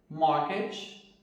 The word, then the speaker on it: mortgage: Nessas palavras, a letra T não é pronunciada. Então, como que ficaria a pronúncia dessas palavras? Ficaria assim: Christmas, listen, fasten, mortgage e nestle.